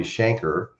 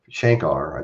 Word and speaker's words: Shankar: tim harden everybody remembers ravi shanker shankar i think is the way they pronounced it because he was